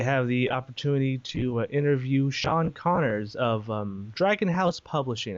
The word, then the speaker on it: Sean Connors: good so yeah without further Ado here is Sean Connor thanks Alex you got my name right that's